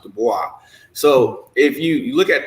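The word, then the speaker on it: Du Bois: Barabas I mean everybody knows it's the boys but it's actually pronounced Dubois so if you look at those three people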